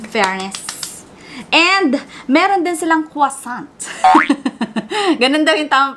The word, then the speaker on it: croissant: And, meron din silang croissant. Ganun daw yung tamang pronunciation.